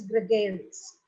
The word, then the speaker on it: gregarious: So the correct pronunciation is gregarious.